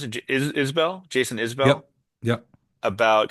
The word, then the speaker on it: Isbell: The epigraph is from, sorry, how do you pronounce it? Isbell?